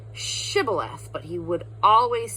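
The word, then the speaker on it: shibboleth: And they would say, "S say Shibth," but he would always say Shibth. Shib Shibith, but he would always say Cibilith.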